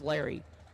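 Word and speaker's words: Laury: Or do you think they pronounce it Larry? Okay, he did correct us. It's Larry. L-A-U-R-Y.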